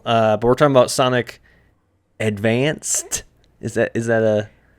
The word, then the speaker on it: Sonic Advance: It's Sonic Advance. Advance just like just like you mean it's the Game Boy Advance, so you don't say advanced, but although I did as a kid.